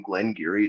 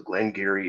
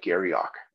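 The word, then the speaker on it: Glen Garioch: 18 year old from Glenn Geary distillery distillery number 19. so Glenn Geary is spelled Clem space and then Geary looks like Gary Ock and that's how a lot of people pronounce it that's how I pronounced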